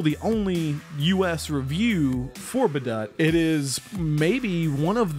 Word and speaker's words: Badoet: by the way um but now we know better it's called badut and we kind of